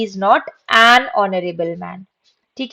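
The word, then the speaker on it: honourable: इसको कैसे पढ़ेंगे, हॉनरेबल नहीं पढ़ते हैं, इसको पढ़ेंगे ऑनरेबल।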